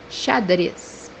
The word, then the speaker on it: xadrez: organizar, organizar, The second pronunciation for this letter is pronounced as S when it comes by the end of the word. The example that we have here is the word chess, which means in Portuguese. xadrez, xadrez.